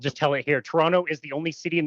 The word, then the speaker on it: Toronto: when I just said Toronto, I'm saying it wrong. Um, Toronto should be pronounced in somewhere between two and two and a half syllables. It's way faster. It's like Toronto. Toronto.